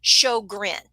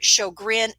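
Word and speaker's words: Sjögren: time remembering it because what i want i wanted to say so gor georgian or something like that but it's actually pronounced show grin and i went ahead and put shogrin there above the picture so that you would know how it is pronounced um so chaugrin and i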